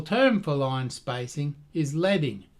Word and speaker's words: leading: The traditional term for line spacing is leading, rhymes with bedding, so named because traditional print shops put strips of lead between lines of type to increase vertical space.